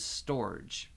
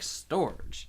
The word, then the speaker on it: Storge: I like Storge. Yeah, that one's very good. Rhymes with George. Okay. She seems a little sad about Storga. Well, I don't know if it's that. I just wonder. Storge.